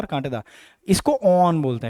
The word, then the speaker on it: awn: ब्रैक्टियोल में lower lemma, अपर पेलिया, उसमें कांटा निकला होता है जिसको ऑन बोलते हैं, ये स्पेलिंग AWN लिखना है, अच्छे से लिखी नहीं गई है।